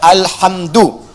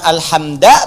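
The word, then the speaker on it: الْحَمْدُ: Dibacaannya alhamdu, bukan alhamda pakai fathah atau alhamdi pakai kasrah. Ya, apa bacanya? Du, alhamdu pakai dhammah. Jadi kalau dibaca dalam salat, jangan baca menggunakan fathah alhamda atau kasrah alhamdi, tidak. Baca menggunakan dhamma.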